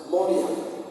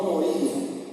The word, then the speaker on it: Moria: la H acá, entonces Moriak. Olvidamos la pronunciación hebrea y haga la acentuación en la Mo. Monte Moria, no Moría, no Moria.